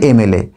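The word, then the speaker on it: MLA: দিয়ে, তাই এর আগে আমরা অ্যান বসালাম, অ্যান এম এল এ। তুমি আর একটা দেখো ড্যাশ এল এল বি। দেখো এর উচ্চারণটা কি?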